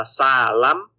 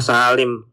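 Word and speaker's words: سالم: ini gimana cara membacanya, apakah salim apa salam apa salum dan lain sebagainya gitu ya. E jadi di sini misalnya cara baca nih cara bacanya ya kan salim ini apa salam apa salum gitu kan ya kan beda-beda gitu. Nah makanya ternyata bacanya salim gitu kan.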